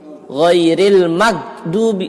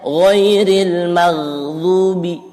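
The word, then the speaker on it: غَيْرِ الْمَغْضُوبِ: Ya, ini sering salah pengucapan huruf ghain. Jadi ghain itu kalaupun diwaqafkan, disukunkan, keluar dia nafasnya. Bukan bukan jadi ghairil magdubi, salah ya, kurang tepat, tapi ghairil maghdubi.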